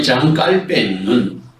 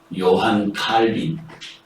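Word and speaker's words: Jean Calvin: 그 다음에 장 깔뱅은 우리가 이제까지는 요한 칼빈, 이 영어식 발음으로는 그런데 이분이 원래 불란서 사람이라 장 깔뱅, 장이 바로 존, 요한이라는 말입니다.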